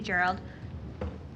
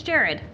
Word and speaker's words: Gerrad: Thank you, Gerald. It's Gerrad.